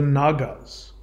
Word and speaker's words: naga: And snake, what we pronounce as nake, is pronounced in Sanskrit as naga.